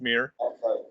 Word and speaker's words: Meyer: It's spelt Meyer, pronounced Meir.